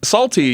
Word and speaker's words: Psalty: Salty, you're going to find very amusing, I think. Okay, I'm ready. So what Salty is, and I think that they still do shows with Salty. It's spelled Psalty.